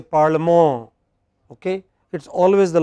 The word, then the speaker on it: parlement: So, what we say parliament, they say parlement. Okay? It is always the last syllable.